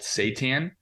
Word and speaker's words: seitan: vegans are a food which is called seitan um and you know like kind of a play on Satan but it's Satan so